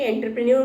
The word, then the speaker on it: entrepreneur: Entrepreneur is a French word which is taken in English. तो इसको हमने एक इंग्लिश प्रोनाउंसिएशन में करके एंटरप्रेन्योर कहा है, अदरवाइज फ्रेंच अगर लेंगे तो एंटरप्रेन्योर. तो both are accepted in English.